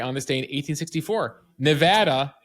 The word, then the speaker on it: Nevada: like to call it Nevada, even though it's Nevada. So I did it years ago when I was the Money Watch reporter for CBS. I used to work with a station that was in Vegas, Nevada.